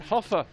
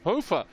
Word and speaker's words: Hofer: Then you were like, it's not Hoffer, it's Hoffer. We say Hoffer. Yes, like, that was good. But my German friend, Ulf Simon, the German commentator, he was like, you're saying it wrong, it's Hofer. So I was like, Hoffer, now you're saying it's Hofer. So it's Hofer. There we go, Hofer.